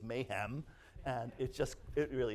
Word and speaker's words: MHAAM: of the ancient Mediterranean which as many of you know is pronounced by many people as Mom and by me is Mayhem and it just it